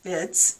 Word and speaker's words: fids: called or push down the foil are called vids it's spelled fids so i'm going to burnish down